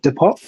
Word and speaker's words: Depop: So Depop, for example, is that how you say it, Sakky? Is it Depop? Yeah, that's what it is.